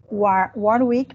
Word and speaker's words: Warwick: NBA na faculdade é Warwick professor é assim a pronúncia correta correto Warwick Business School no Reino